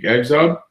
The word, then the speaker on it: Exob: Here's a sneak peek at Exob, or Exob. It's a pretty cool project. It's 20 pages of an ongoing series. It's pronounced, Exob is pronounced Zob.